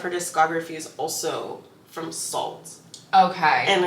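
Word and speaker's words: Sault: a lot of her discography is also from Salt okay and it's spelled s a u l t you oh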